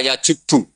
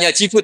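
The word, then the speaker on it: يجب: itu pentingnya seperti itu santri akan tahu ini bacanya yajibu apa yajubbu kalau di hadis Al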